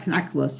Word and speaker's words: Knackwurst: Yeah, Knackwurst. Yeah, because in German you pronounce the K in front.